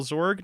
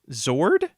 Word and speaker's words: Zord: Hey, real question: are you pronouncing it Zorg with a G? Yes. Why? How do you pronounce it? With a D. Zord?